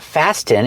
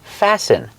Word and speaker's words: fasten: fasten my seat belt remember with the verb fasten the t is silent it's not fasting it's fasten fasten is the verb